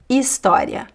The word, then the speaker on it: História: But in word in Portuguese words, the h is silent. História hotel humano, okay?